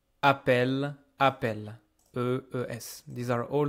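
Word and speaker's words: appellent: Don't be fooled by this ENT. I don't pronounce it. This appel, even though there is ENT, is pronounced exactly like appel, appel, EES.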